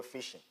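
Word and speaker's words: phishing: fishing in a way it's spelled with the P starting with a p but it's pronounced as the regular fishing if you go fishing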